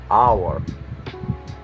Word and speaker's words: hour: And sometimes it's not pronounced on at the start of words, like honest and hour.